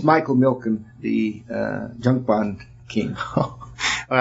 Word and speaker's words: Milken: The how do you pronounce it again? Milliken. Milliken? Milken. It's Michael Milken, the junk bond king.